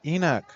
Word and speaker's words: Enoch: Hall en Hall freshman Eno and I butchered his name the whole first half of the season I apologize and then I even got corrected one game and I'm like no it's not it's Enoch like come on no